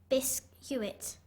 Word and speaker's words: biscuit: l e renen w r e n biscuit bisit b i s c u i t why